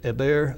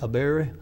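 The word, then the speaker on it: Eber: to cross over and keep in mind the pronunciation a bear a bear it's going to be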